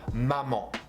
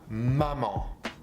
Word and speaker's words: maman: Then with A you can also create the sound en. A-N, like if you say, for example, maman, maman, mommy, la maman, the mommy.